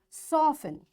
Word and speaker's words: soften: Listen, fasten, castle, often, whistle, soften, hasten, bustle, and gourmet. In all these words, letter T is silent.